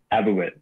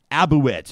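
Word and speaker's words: Abegweit: How do you pronounce the name of your First Nation? Abiquit. Abiquit.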